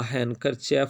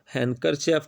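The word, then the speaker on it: handkerchief: He borrows uh हैंकरचेफ from, हैंकरचेफ कहते हैं, ये हैंड नहीं पढ़ना, हैंकरचेफ, कुछ इसे हैंकरचीफ भी पढ़ते हैं, दोनों प्रोनाउंसिएशन ठीक हैं।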